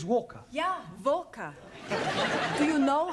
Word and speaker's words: Walker: at Mrs vka Walker what w is pronounced W your employer's name is Walker yeah vka do you